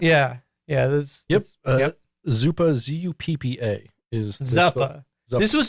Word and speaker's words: zuppa: that's about right yeah yeah there's yep yep zupa z-u-p-p-a is zappa this was spelled z-o-o-p-a though it's it's pronounced zupa and so it is the same word it's